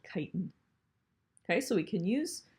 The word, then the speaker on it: chitin: structure it's gonna be in a molecule called chitin that's how you pronounce that chitin and it's gonna form the harder shells that